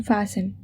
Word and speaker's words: fasten: Silent letter in fasten, it is T.